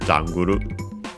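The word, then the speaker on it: ジャングル: Yeah, likely accented on the first syllable as expected. Janguru.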